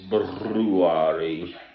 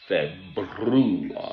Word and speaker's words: February: I'm sitting here in England on the 2nd now of February. I am a person who pronounces both R's in the word in a correct manner. February, not February.